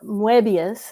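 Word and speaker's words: Moebius: you're I mean certainly translating Mobius or muebius as the French pronounce it um it is you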